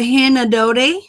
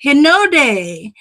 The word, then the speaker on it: Hinode: max yo Co the Hana Dodi did I pronounce that correctly O'Day Hinode Soho trace sto iris